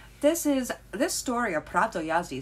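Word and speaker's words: Prawo Jazdy: very beginning you know pronounced the w is a v yada yada was absolutely correct well is that egg on my face this is this story of prato yazi sounds a lot like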